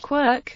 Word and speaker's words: quark: quarts for Mr Mark in which case the pronunciation Quirk would not be totally unjustified in any case the